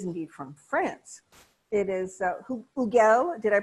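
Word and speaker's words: Hugel: It is Huguel. Did I pronounce that correctly, Mr.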